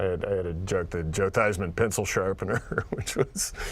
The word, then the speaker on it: Theismann: who by the way probably universally changed the pronunciation of his name while at notre dame uh-huh it was thiesman feesman that doesn't sound so bad right but it doesn't sound as good when you say theisman for heisman that's right my friend